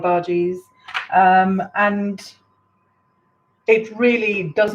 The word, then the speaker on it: bhaji: our verges in there i am saying bhajis but actually in india where i come from they're pronounced bhaji a very nice strong emphasis on the bh so practically no ah sound and then the ji is the same as uh bhaji so they're called bhaji um in maharashtra and